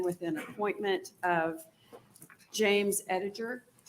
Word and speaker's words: Ediger: an appointment of James Ediger did I pronounce that correct Edgar Ediger that darn G I'm sorry welcome to